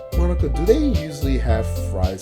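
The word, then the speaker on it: Monika: Monica? Eh? That's not how you say my name at all. Monica.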